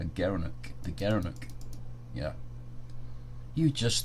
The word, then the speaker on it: gerenuk: gara gara knew gerenuk he pronounced as a gerenuk the gerenuk yeah you